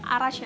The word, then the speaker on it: Arash: Jadi Errol sama Arash sih bacanya Arash ya.